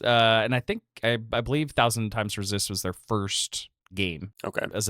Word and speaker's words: 1000xResist: And I think that 1000 times resist is in theme with what the story is telling us to a certain extent, right?